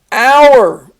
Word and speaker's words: hour: sit on attack ouch hour this is not the hour like what hour is it for that you have to put a silent h on the front this is our possessive